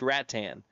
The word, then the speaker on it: Rattan: It's been too long ago, but Brena House was from Rat Tan and she corrected me time and time again that it is pronounced Rat Tan.